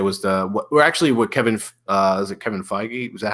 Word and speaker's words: Feige: a little bit was what Kevin, is it Kevin Feige?